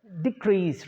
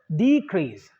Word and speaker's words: decrease: is D so D so decrease not decrease is first syllable that has to be pronounced that has to be stress more than the first one so decrease the first syllable is stress more than the second syllable and then the second